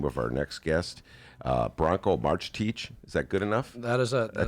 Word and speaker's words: Marcetic: I could tell you, Branko, before the show, how do you pronounce this guy's name? And now, no, Ben, it's Marcetic.